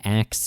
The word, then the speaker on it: ask: to note that um people have been saying acts instead of ask since the 8th Century